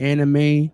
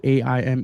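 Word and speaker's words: Aimé: The I'm gonna call it Anime Leon Dore New Balance 1000s is actually AIME. It's not anime.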